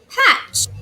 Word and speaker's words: hatch: make the sound ok the T is silent we do not hear the T so I'm gonna underline